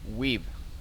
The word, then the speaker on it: Weeb: But I don't think Webb has Weeb. It's not Webb. I've been mispronouncing it the entire time.